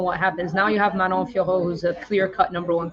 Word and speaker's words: Manon Fiorot: Manon Fiorot.